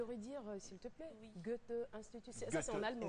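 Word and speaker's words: Goethe-Institut: Goethe Institut, ça Goethe c'est en allemand. Institut. Hein. Tu le prononces avec l'accent allemand, là.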